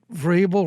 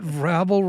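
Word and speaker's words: Vrabel: you please tell her it Vel rhymes with Abel not vble rhymes with Scrabble yeah you know it's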